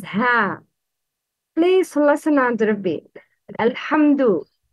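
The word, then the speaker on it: الْحَمْدُ: Uttering dal same as ta should be avoided. It's dal, not ta. Alhamdu. Don't pronounce dal like ta. Please repeat. Alhamdu. The wrong is alhamtu, alhamtu, to no, that's wrong.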